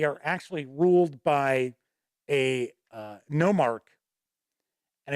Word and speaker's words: Nomarch: actually ruled by a Nomarch. And it's kind of funny. Yes, it is spelled just like monarch, but you switch the M and the N around.